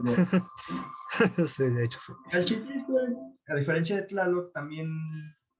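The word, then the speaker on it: Chalchiuhtlicue: Esta vez decidieron poner a Chalchitlicue. ¿Sí lo pronuncian? Sí, Sí, Chalchitlicue.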